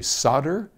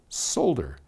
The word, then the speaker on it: solder: my guess but yep over here we say solder and cross the pond they say solder in any case it's